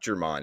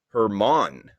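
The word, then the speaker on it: Germán: note here domingo german it's not german it's hermann according to one of our producers chris here staying on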